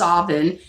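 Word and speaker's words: Samhain: is the Irish holy day in Scotland is pronounced oven but Salman is a very holy beautiful night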